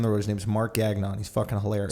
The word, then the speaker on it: Gagnon: Yeah, Gagnon is probably how you pronounce it with some French shit, but like then you got the whatever.